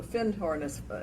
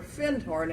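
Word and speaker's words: Findhorn: food rack about the fintornis foundation and scotland which is a very important new age center and he said our finned horn and he corrected my pronunciation section is right there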